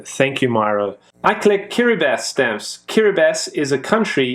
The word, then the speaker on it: Kiribati: used to call it Kiribati until I actually heard how it was supposed to be pronounced. It's Kiribati. It's, for some reason, the TI makes an S.